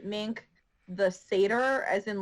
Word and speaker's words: seder: was amazing and then some people don't understand how to pronounce seder and it comes out as satire and i'm like well